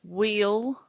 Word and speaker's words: wheel: That's wheel. W-H-E-E-L. Very good pronunciation. I could have held up the veal word, which is V-E-A-L, but you correctly identified the W sound, which was in the wheel word.